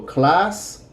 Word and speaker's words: clase: There is no such thing as a silent E in Spanish at the end of the word, like in English. So, clase, clase.